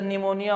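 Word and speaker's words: pneumonia: कि यहां पर क्या पी साइलेंट के रूप में काम करता है। तो जब आप ट्रांसलेटेड वर्ड को दूसरे भाषा में ट्रांसलेट करके पढ़ते हैं तो उसमें कोई ना कोई एक अलग शब्द दिखाई देता है। जैसे निमोनिया वाला है एक हो गया।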